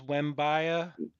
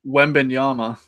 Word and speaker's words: Wembanyama: Wembaya? Wembenyama.